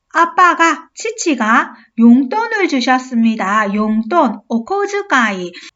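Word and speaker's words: こづかい: 치치가 용돈을 주셨습니다 용돈 코즈카이 이거 다치 즈 즈에 땡땡이 오면 즈로 발음합니다 오즈카이 오즈 아이요 아빠가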